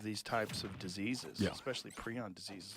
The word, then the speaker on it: prion: spelled out phonetically how it's supposed to be pronounced um so then I was like okay I'm going to stick with pron now it's the guy that came up with